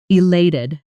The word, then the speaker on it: elated: Notice the stress on the second syllable.